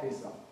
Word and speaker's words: Pisa: So this person, his real name is Leonardo of Pisa. Leonardo of Pisa. Not the pizza as in the pizza that we eat. It's actually P-I-S-A, but it's pronounced like pizza.